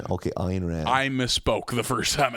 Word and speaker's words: Ayn Rand: And how is it pronounced? Ayn Rand. Okay, Ayn Rand.